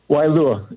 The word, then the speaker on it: Waialua: can go and uh Wailua is how you say it I kind of run it fast anyway I'm the gentleman